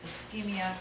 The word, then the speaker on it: ischemia: And this is not just to phlebotomy, it applies across the board because ischemia can occur in many different scenarios. We pronounce this ischemia.